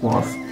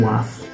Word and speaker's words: Wath: One of them said Wath, one of them said Wath. I can hear an argument now from the patrons on the other side of this wall saying how they say it. So I think it's quite a divisive subject here. Some people say Wath, some people say Wath. Sounds like the patrons would say Wath.